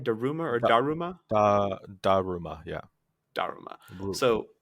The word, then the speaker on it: Daruma: Daruma or Da, Daruma?